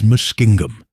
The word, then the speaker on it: Muskingum: The proper pronunciation in Indian is Muskingum.